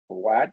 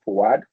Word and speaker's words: Fuad: My name is actually a trap. It's spelled Faud, but then it's pronounced Fuad. So Fuad it's from Arabic, so it comes with a U there before the A.